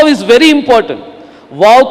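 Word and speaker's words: וָו: वा is very important वाव को कुछ लोग जो है वो नहीं चाहिए करके बोलेंगे वो साइलेंट है करके बोलेंगे इट can never become silent और उसे उठाकर मत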